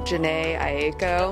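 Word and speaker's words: Jhené Aiko: Number two was, I don't know how to say her name, Janae Aiko.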